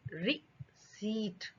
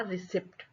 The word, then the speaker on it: receipt: तो क्या हो गया? रिसीट। इसको बोलने का तरीका हमको आ गया रिसीट, ना कि रिसीट, ना कि रीसेट, ना रिसिप्ट।